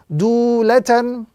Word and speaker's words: dulatan: Dulatan, with the prolongation and the emphasis on the first letter because of the waw madda that appears in this particular word, dulatan.